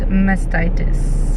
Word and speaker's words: mastitis: things things are called but yeah so it's mastitis everybody that's how you pronounce it so I got to have given